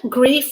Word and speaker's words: grief: And in terms of what they sound like, the only difference is that sound at the end, whether it is voiced, v, or it is unvoiced, f. So as a noun, grief means suffering or distress.